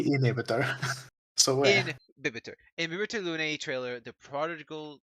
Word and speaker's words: Imbibitor Lunae: Inhibitor Lunae. Well, no, it's not inhibitor because there's an H there. It's Imbibitor. It would be imbibitor. Imbibitor Lunae. Imbibitor. I always say inhibitor. So Imbibitor.